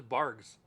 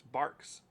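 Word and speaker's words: Barq's: And I was like, "What is Bargs?" And she's like, that's what that's called." I was like, "Baby, that's a Q, not a G. It's Barks."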